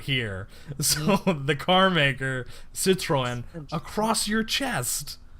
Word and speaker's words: Citroën: If you're wearing like a Celta Vigo jersey, you have the giant Citroen if I think that's how that's pronounced, the cars are not here. So the car maker, Citroën, across your chest.